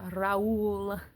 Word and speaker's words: Raoul: love of her life, Raoul. And I will forever want to pronounce it Raoul. But in the movie, they said Raoul.